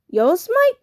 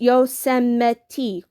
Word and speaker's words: Yosemite: read a single word on the cover yosemite yo smite said annie jack laughed no it's pronounced yosemite yosemite he said yosemite was that i asked